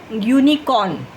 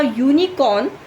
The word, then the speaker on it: unicorn: For example, if you say uninor, okay, unicorn, okay. Now unicorn, before it starts with u, the spelling is starting with u, but the pronunciation is of y, okay.